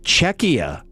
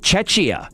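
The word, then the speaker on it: Czechia: Uh I realized that uh in watching Czecha playing this week that I haven't been pronouncing I have not been pronouncing the name correctly for the last 3 weeks calling it Chetchia.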